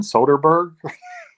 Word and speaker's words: Soderbergh: I don't want to pronounce his name wrong. Steven Soderbergh.